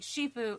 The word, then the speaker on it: Shifu: Oh, and Shifue was supposed to be Po's adopted dad, which is why they made Shifue.